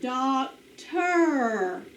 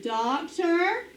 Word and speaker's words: doctor: doctor listen to it doctor o r is in the final position my turn doctor combination o r er say it with me